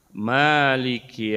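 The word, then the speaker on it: مَالِك: Maliki yaumiddin. Din, Malik. Di sini ma-nya panjang, Malik. Memang ada yang cara baca pendek gitu ya.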